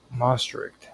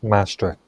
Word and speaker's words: Maastricht: Um now out of these dynamics emerged the Marri treaty and I probably mispronounced that the Most Treaty in the early 1990s uh which formally established the European Union. Okay. Oh, Mastrict.